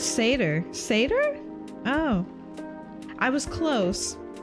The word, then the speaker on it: seder: I got the audio too quiet oh it's seder seder oh I was close Sader think about saders for example Haley when you